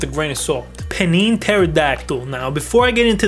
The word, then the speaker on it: pterodactyl: word pterodactyl huh well there's a silent p what other word in the english language has a silent p bro it makes no sense we just take out the p pterodactyl with the t anyways rant over the